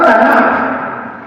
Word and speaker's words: Tanakh: Muy bien, entonces la palabra Tanakh, como ya la vimos, Tanakh, es una palabra compuesta de tres sílabas. Ta, na y ka, o jota, que se traduce.